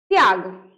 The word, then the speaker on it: त्याग: क्या पढ़ेंगे बताइए तो, त्याग। नॉर्मली त्याग, यानी त्याग, झट से त के बाद झट से अगला वर्ण हमको बोलना पड़ता है, उच्चारण करना पड़ता है, त्याग।